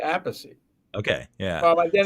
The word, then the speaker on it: Appice: my parents say Appice. Okay. Yeah. Well, they're not alive anymore, but my father said Appice, so my mother said Appice. And Carmine actually used to say Appice.